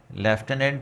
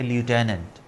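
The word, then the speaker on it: lieutenant: हम वर्ड बोलते हैं लेफ्टिनेंट। तो ये दो प्रोनंसिएशन है। अगर आप ब्रिटिश को फॉलो करेंगे तो ये है लेफ्टनेंट और अमेरिकनंस को फॉलो करेंगे तो ये है ल्यूटेनेंट। लेफ्टनेंट और लटनेंट।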